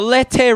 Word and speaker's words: Lete: We have the Lete River, not the Lete River.